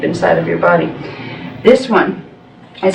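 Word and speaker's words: Auan: This one is called it sounds like on. It's A-U-A-N, but it's pronounced like you would say on, O-N, that kind of sound.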